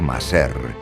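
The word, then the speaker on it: مصر: El hebreo Mazor se conserva en el árabe Miser, que se pronuncia Maser en el dialecto vulgar de Egipto.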